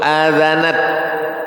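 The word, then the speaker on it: آذنت: Qauluhu adzanat bimaddil amzah. Cara membacanya hamzahnya pakai mad.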